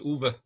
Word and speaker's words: Uwe: It's like Hoover without an H, Uwe.